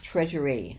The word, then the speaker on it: Chresury: her on Etsy and the brand is treasury sounds like treasury but it's pronounced that